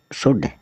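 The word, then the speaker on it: should: हथेली एस एच ओ यू एल डी श शुड एस एच ओ यू एल डी क्या होता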